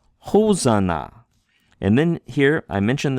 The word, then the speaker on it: Hosanna: The h sound coming from the rough breathing mark. If it were a smooth breathing mark, it'd be Ozana, but it's not Ozana, it's Hosanna.